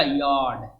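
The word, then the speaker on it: yard: dead मी्स Teni beam beam मी्स खुश यार्ड यार्ड यार्ड और र इसमें साइलेंट रहेगा यारार्ड मीन्स मैदान पैप्स पैक्स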